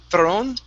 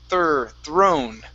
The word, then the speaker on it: throne: Instead of throne, it's throne. Throne. Okay, one more time. Push the tongue down on the R.